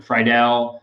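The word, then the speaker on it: Friedl: I don't know how to pronounce his name. Friedel.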